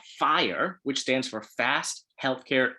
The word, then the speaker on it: FHIR: an open standard called fire which stands for fast healthcare interoperability resources so it's spelled fhir but it's pronounced fire and this is the